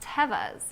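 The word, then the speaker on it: Tevas: um yeah he's like actually they're pronounced Tevez but I just bought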